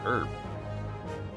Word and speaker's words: herb: in america it's particularly midwest that that age is silent it's just herb my science teacher used to talk like